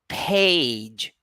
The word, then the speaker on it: page: vowel sound a page we don't say page page people this is how people in Pakistan in other countries usually pronounce page no aspiration it's not page it's actually page so you will never hear native speakers saying or pronouncing page they don't do that they always say page likewise tell tell now